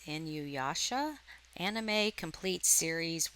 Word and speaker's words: Inuyasha: So there you can see, I guess it's pronounced Inuyasha, Anime Complete Series 1 through 6 Blu-ray.